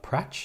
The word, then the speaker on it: Prach: Kenya Prach? Is that how to pronounce it? Yeah, Prach. Yeah, it's a French. You can pronounce as French, Prach.